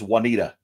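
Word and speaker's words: Wauneta: The second one is Juanita. W-U-A-N-E-T-A. Okay. And anytime people see the first one, they want to say Juanita because it's spelled like Juan, J-U-A-N.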